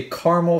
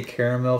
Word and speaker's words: caramel: how you say it some people say caramel flavor i say caramel flavor because it's spelt caramel but whatever to be honest